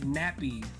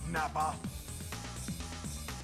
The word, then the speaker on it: Nappa: have any hair but I always called him nappy as a kid cuz I didn't know how to pronounce his name cuz I was so young I called him nappy that's quite enough Nappa all right we need